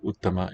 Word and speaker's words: uttama: Well, the fact, if you remember these as tarap tamap, you will know where the accent must be in a word like uttama and uttara. It's got to be on the first syllable.